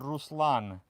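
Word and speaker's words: Ruslan: So, no, it's my my full name is uh Rouslan. Uh most people because Yeah, most people butcher it. It's actually spelled R U S L A N.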